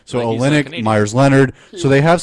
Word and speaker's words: Olynyk: Iguodala we have how you say Olsen ik Olynyk : I never I always forget how to say his name so Olynyk Meyers Leonard so they have some height they